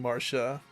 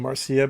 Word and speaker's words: Marcia: I got grilled for mispronouncing Marsha, saying Marcia, but then you have like Garcia, Lucia, Alinsia, Narian. There's a couple other ones, too. But it's Marsha, remember?